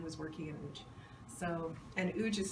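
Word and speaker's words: Łódź: working in age so uge is spelt strangely it's l-o-d-l-o-d-z but it's pronounced ooch in polish so it's a kind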